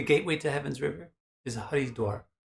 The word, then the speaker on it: Haridwar: You know what the gateway to Heaven's River is Haridwar. Hardwar, the modern pronunciation, Hardwar.